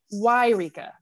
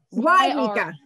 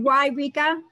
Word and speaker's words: Eureka: put a link in it's it's eureka why rika why nika i know that's how to say it why rika why rika yes yep